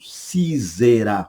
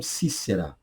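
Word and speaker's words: Sísera: dúvidas, muitos me perguntam, eu pronuncio Cícera ou pronuncio Císera, como muita gente diz. Eu ficaria mais com Cícera, tá? Já visto o fato de que o hebraico é Cisra. Cisra seria a pronúncia hebraica. Cisra, Cisra, da ideia mais de Cícera do que Císera.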